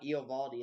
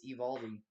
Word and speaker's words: Eovaldi: It's not Eovaldi, it's Evaldi.